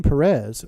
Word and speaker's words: Peres: coincidence that the name Perez rhymes with Paris and that Perez in